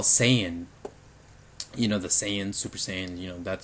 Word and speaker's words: Saiyan: And that's understandable, but because people have just grown up with Saiyan, and that's how they think it should be pronounced in English. But technically, it actually should be Saiyan.